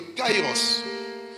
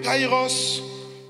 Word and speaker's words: kairos: le temps vous avez le prononce plutôt le kaïros le kairos c'est un temps métaphysique